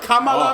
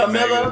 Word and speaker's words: Kamala: inspire you to pronounce her name right, Nigga, considering I'll that pronounce she's it any way I want. Kamala. Oh, that sounds MAGA, man. No, that sounds real MAGA, bro. Sounds extremely Camilla, MAGA.